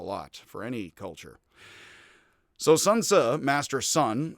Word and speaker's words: Sun Tzu: So it is pronounced Tzu, which is like tsu, or like tsu.